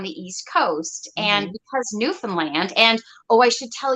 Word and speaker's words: Newfoundland: name right yeah so the way you can remember is understand Newfoundland that's how it's pronounced not Newfoundland or new things um